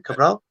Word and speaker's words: Cabral: And, Cabral, with his low rating, I can understand that. Am I pronouncing it right? The number 10, Cabral? Yeah, Cabral, Jovan Cabral, yeah, that's correct.